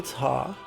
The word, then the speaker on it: ta: The syllable ta sounds like ta-ta, the greeting.